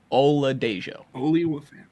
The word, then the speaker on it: Oladejo: How do you pronounce the UCLA guy's name? Oluwafemi? Oladejo.